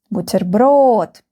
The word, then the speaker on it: Бутерброд: Бутерброд. The last syllable is stressed. Бутерброд.